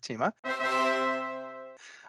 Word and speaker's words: Thieme: yourself absolutely hi everyone my name is tima i'm a senior cloud solutions architect at